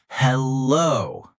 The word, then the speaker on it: Hello: The stress is on the second part of the word. Hello.